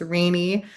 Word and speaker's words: Rainy: It is pronounced Rainey, like the weather.